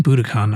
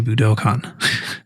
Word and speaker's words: Budokan: the buddhicon stage yes i've been saying buddhicon i think they say budokan actually i think they think that middle syllable is long but i think i'm